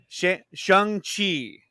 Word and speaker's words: Shang-Chi: the MCU, which is Shang-Chi. Shang-Chi. Shang-Chi. He says it's pronounced like the name Sean, but with an Sean with a G at the end.